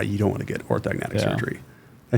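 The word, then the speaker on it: orthognathic: Um and I met him through some friends and you know, was on a personal level, he's you don't want to get orthogonatic surgery.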